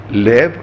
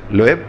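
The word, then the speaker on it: Löw: En conferencia de prensa, el técnico alemán Loeb, así se pronuncia, Loeb, dijo que no tienen tiempo para festejar, que están preocupados por la final.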